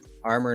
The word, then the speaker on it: RMOR: The one guy that I met there was this guy, Armor Knives. It's spelled RMOR.